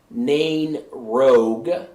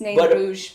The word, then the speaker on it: Nain Rouge: I call it Nain Rogue. It's Nain Rouge, people. But apparently that's not correct.